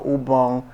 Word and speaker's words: Ubong: website you may think of once you go ubong production that's where I am you see